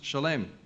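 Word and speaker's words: שלם: In Hebrew, the shoresh, the root of the shalom, is shin lamed mem sofit, pronounced shalem.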